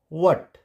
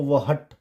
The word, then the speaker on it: what: जैसे WHAT, वट, इसको वहट नहीं पढ़ेंगे, वट।